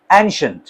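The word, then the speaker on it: ancient: एंशिएंट, कुछ पढ़ते हैं एंशिएंट, शीयंट, ईएंट नहीं कर, ईएंट इसकी साउंड, इसकी प्रोनाउंसिएशन नहीं है, एंशिएंट, नो इट्स नॉट एंशिएंट, इट्स एंशिएंट, एंशिएंट sound, एंशिएंट।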